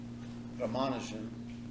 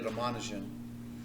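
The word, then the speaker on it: Ramanujan: we have a mathematician his name is uh ramanin different people pronounce it slightly different but let's say ramanan and there's a movie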